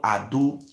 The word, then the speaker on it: Edo: Edo, the full pronunciation of Edo is not Edo, it's called Ado.